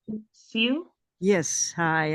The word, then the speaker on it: Siew: And then we have. Is that how you pronounce it? Siu? Yes, hi. I always say it's like view, but with an S.